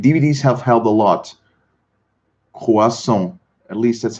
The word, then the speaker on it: croissant: Croissant is the correct pronunciation. Le croissant.